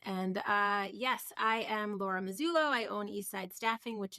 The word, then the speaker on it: Mazzullo: Today we have a special guest, Miss Laura Mazzullo, and it's Mazzullo. Is that how you say it? We're doing a little Italian lesson before the yes, Mazzullo. Yeah, Mazzullo.